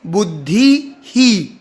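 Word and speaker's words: बुद्धिः: मात्रा बदल देनी है जैसे यहां पर बुद्धि शब्द धि में ई की मात्रा है और आगे विसर्ग है तो हम बोलेंगे बुद्धि ही बुद्धि ही छोटी ई की मात्रा तो छोटा ही उच्चारण करना है बुद्धि है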